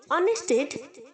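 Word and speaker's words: honest: पर भी से है जैसे हमने ऑनर में हा को प्रोनाउंस नहीं किया आप साइलेंट है वैसे ही ऑनेस्ट में है ओके तो हम इसे ऑनेस्ट नहीं बोलेंगे ऑनेस्ट बोलेंगे ओके ऑनेस्ट ऑनेस्ट आईटी यूनेस्टेड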